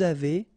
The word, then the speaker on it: avez: nous avons, vous avez, a Z at the end will produce this E sound, avez, little link between